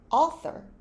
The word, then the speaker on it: author: 거 했던 거 기억나시나요 여기서 중간에는 번데기 발음이납니다 a sir 저자라는 뜻이죠 자주 나옵니다 author author sophisticated인데 보다는 PH